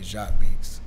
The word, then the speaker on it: JAQUEBEATZ: So I just kind of changed the ending. And I was like, all right, it'll be Jock Beats. Gotcha. So yeah, that's how it's actually pronounced.